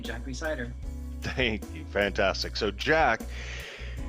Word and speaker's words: Jack Rhysider: the hugely, wildly popular podcast series, Darknet Diaries, Jack Rhysider. Jack, did I say it right this time? Yep, you got the name right, Jack Rhysider.